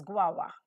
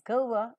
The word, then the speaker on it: guava: Goa tree go over Goa it is also pronounced as guava guava but I would like to pronounce it as gova because my teachers taught me so the next